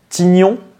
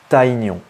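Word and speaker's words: Tygnon: bien la première génération alors est-ce qu'on dit Tigon ou taignon je vous laisse un petit peu de temps et la réponse c'est tyignon voilà pour une référence au boxeur MC Tyson voilà tazon plus Gon voilà donner des gnons donc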